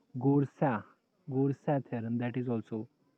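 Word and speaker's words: Goursat: First read Gore and then Sat. In some people don't pronounce this T also. Gorsa.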